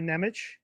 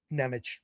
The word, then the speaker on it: Nemec: there's no need for Nemitz, I think you pronounce it ITZ, but it's Nemec, whatever.